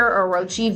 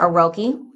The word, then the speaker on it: Orochi: If you're looking for a very lightweight gaming mouse, the Razer Orochi V2 or Aroki uh V2, depending how you like to pronounce it, is 60% off on Prime Day deal.